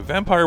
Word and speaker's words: Vampyr: Vampir or vampire hunter pronounced a vampire with a why is a new action